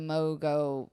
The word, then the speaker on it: Mongeau: Is that you can't compare your video to to a Tana Mongeau video. I can never say her name right. Mongeau? Yeah, thank you.